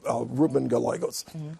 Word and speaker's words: Ruben Gallego: And Diane mentioned Arizona earlier, Ruben Gallegos. Am I pronouncing his name correctly?